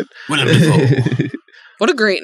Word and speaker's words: Dafoe: about how family called it Dafoe or Duffo.